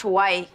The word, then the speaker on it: Hawaii: promised prize the trip to Hawaii it's it's pronounced Hawaii and I thought it was horror Warrior dice needs the girls to hide Doomer while